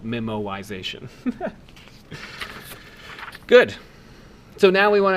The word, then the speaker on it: memoization: just for your interest it's called memoization and I didn't just mispronounced memorization rather the word is memo like writing something down and so memo wise means to write to write things down as they happen so the technique is